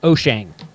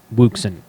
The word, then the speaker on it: Wouxun: Oh Jane walks on whoosh whoosh on it's pronounced O'Shane so several of you were gracious enough to